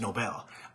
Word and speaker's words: Nobel: a Steve Nobel um that's how that's that's how I pron pronounce this his name I found out yesterday is Nobel um sent me a